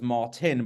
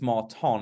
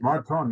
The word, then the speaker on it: Marton: And I originally thought your name was Martin, but I think it's Marton. Is that the phrase? Marton, yes, it's Hungarian.